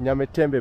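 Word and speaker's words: Nyamtembe: Nyametembe bridge. Yeah. How do you pronounce Nyametembe?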